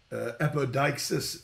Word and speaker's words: apodeixis: The Greek language is, the way you would pronounce it in English is odikesis. In the Greek language, I'm just saying in the English, apodeixis is the Greek word, and it's translated as making manifest.